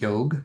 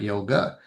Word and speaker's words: yoga: So just like yog is not yoga. Yam is the more proper way to say it.